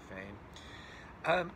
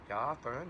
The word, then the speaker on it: foehn: a foehn winds right it's a German word I think it's pronounced sort of like fo-in those are winds that are warm and dry that come down the side of a mountain foehn winds right so those